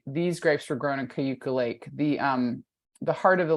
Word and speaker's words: Cayuga: So I one thing, want to correct your pronunciation slightly. Thank you. I don't live there. Sorry, so Elaine. No, thank you. Please do. I'm gonna type, this is how we tell people how to Okay, you have to say that though. Cayuga. Yucca. Two syllables. Oh, two Cuca. syllables. Okay, and Cuca. I'm focusing on the vowels, but I should focus on the consonants.